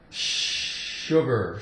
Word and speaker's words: sugar: runs to run runs sh we have sugar sugar sugar Su here it sounds like sa sugar now sugar what is